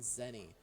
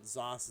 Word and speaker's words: ZOS: Speaking of ZeniMax Online, if you hear the term Zos, I'm not even gonna, Zoe, Z-O-E, I've never heard it pronounced that before, and Zenny. You might hear Zenny, but again, Zos is gonna be your most common one to hear, and that stands for